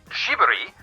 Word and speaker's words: Ghibli: It is actually pronounced Ghibli, but in Japanese, the R sound has a slight L accent to it.